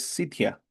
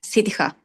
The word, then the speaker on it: Sitja: Asumo que es Sitia. Sitia, ¿o No, no? es Sitija.